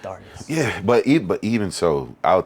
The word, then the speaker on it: Darrius: the way it sounds, Darius is probably like the ending a little bit different. Yeah, because how it's spelled in Spanish is like Darios, I think.